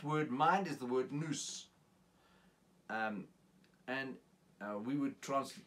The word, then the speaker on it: nous: Now that word mind is the word nous. We would spell it something like N-O-U-S, mind.